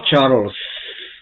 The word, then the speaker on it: Charles: se escribe Charles pero recuerden la e en inglés no se pronuncia se omite y se solamente se dice Charles porque se termina en